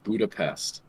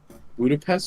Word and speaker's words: Budapest: people pronounce it Nepal Budapest was pronounced with an sh where budapes oh God